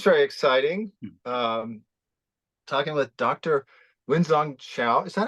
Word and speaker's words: Wengzhong Xiao: Wengzhong Xiao. Is that how you say? Is Yeah, that that's correct perfect.